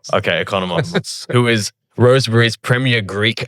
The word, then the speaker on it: Economos: Economos. Yeah, it's good enough. How do you say it? Economos. Okay. Economos.